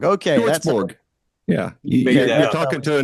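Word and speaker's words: Hjortsberg: I never get a name right, never pronounce it right. Pjortsborg. Okay. Pjortsborg.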